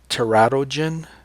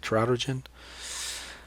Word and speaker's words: teratogen: word you should know a teratogen or terror teratogen that's how I say it trout urgent what is that a